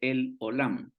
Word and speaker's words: El Olam: Luego fíjese que está este otro nombre también, de que ese nombre se lee así, mire, ese se lee El Olam.